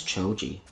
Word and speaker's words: Choji: like who's big bonding art you said his name wrong choji is fit though yeah it's choji so quickly that i think i might have